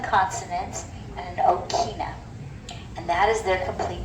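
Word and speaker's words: ʻokina: Okina is this little symbol right here, and it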